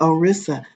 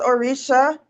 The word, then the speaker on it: Orisha: Oh yeah, it's my Orissa. Renee, can you tell me if I'm saying that word properly since you are familiar with that deity? It's pronounced Orisha.